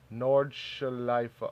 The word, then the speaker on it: Nordschleife: Bro, I'm still digging the fuck out of the Nordschleife. How do you pronounce that shit? Nordschleife.